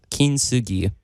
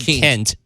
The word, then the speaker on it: Kintsugi: You really accent the Kent part of it. Kent. You kind of blend it together and everything, but su is a separate syllable in the Japanese language.